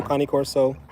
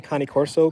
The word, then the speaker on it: Cane Corso: I've heard both. I think if they're Italian Mastiffs, so I say Cane Corso, Cane. I use that pronunciation, but it's both. I think people say it's Cane Corso, Cane Corso, either one.